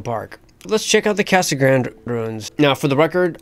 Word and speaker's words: Casa Grande: Let's check out the Casa Grande ruins. Now, for the record, I understand the correct phonetic pronunciation to be Casa Grande.